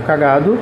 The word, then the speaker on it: cagado: um exemplo de cagado cagado tem uma sílaba tônica que é o g mas não tem acento Beleza então lse disso